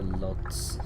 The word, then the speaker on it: Łódź: Is it Łódź in Poland? I think that's how you pronounce it. Or Lodz, as British people would say.